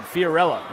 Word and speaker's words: Fiorella: They're asking Sealy Feldman about Fiorella, and she said, Fiorella, like Cinderella.